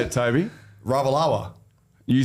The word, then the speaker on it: Ravalawa: That was a great pronunciation of that name. What, Ravawala? That's not it. That's not it. Macaulay Ravawala. That's not it. You are saying it wrong. How do you say it, Toby? Ravalawa.